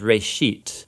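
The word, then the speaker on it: רֵאשִׁית: Genesis comes from a Hebrew word. It's pronounced reshit, and it just means beginning.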